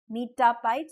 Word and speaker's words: lomitapide: So it has M, T, and P. Metapide. So it rhymes with MTP.